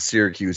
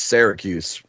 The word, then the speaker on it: Syracuse: By the way, we don't pronounce it Syracuse. It's Syracuse. Very hard A's in Western New York.